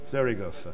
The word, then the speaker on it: Zaragoza: And then there's some mission analysis being done by the university in Spain that I can never pronounce. Help me. Zaragoza.